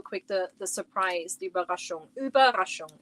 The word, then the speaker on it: Überraschung: Überraschung is how you say it.